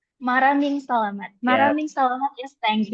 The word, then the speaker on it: Maraming salamat: Salamat malaming salamat. No, it's pronounced as this. Maraming salamat. Maraming salamat.